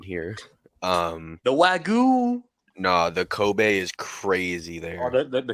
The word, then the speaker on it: Kobe: There it's Kobe.